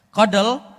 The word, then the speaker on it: CoDel: ada cake Nah kita perhatikan eh satu persatu Kodel ya pengucapannya adalah Kodel itu menggunakan algoritma yang baru